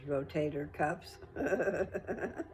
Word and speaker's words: rotator cuff: I was saying it wrong. My brother finally told me the right way to say it. So, rotator cuff.